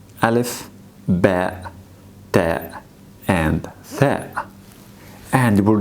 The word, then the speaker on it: ب: Ba is pronounced like the B sound in the English alphabet. Ba, ba. Like when we use it in the English word bat. Bat. So bat, same pronunciation as ba.